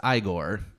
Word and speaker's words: Igor: And then Daniel Radcliffe plays Igor. And it's pronounced Igor. It was Igor.